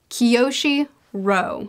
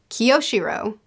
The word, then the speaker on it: Kiyoshiro: Kiyoshiro is how they told me to pronounce it, so Kiyoshiro.